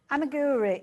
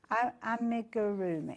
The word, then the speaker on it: Amigurumi: Amiguri. Am Oh, I always say, did I say it right? Amiguri. Amiguri. Amigurumi. I always say it wrong.